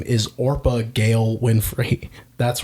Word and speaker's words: Orpah: Her full name is Orpah Gail Winfrey. That's right. Interesting. Orpah, not Oprah.